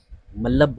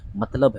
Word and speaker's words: मतलब: मतलब क्या है मतलब कुछ लोग ना इसे बोलते बोलते मलब बोल देते हैं क्या बोल देते हैं मलब बोलते हैं बट इसका जो सही उच्चारण है मतलब है ठीक है ना तो आपको मतलब बोलना है ना कि जबसे हो